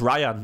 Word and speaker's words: Rayan: when you look at the fees for eight Nory and the Ryan is apparently it's just Ryan isn't it Ryan because 8 Nory pronounced it Ryan Ryan in his own video so Ryan's jerky um